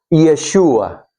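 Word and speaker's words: ישוע: En el hebreo se pronuncia Yeshua y es una manera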